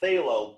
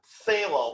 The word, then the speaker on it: phthalo: ultramarine blue and a phthalo blue that's p h p h t h which is just impossible to pronounce without a lisp phthalo blue which is more